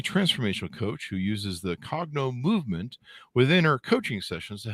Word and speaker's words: Cognomovement: coach a uh what do how do I pronounce this correctly Katie a cogno movement you got it yep perfect cogno movement practitioner this is why we do the show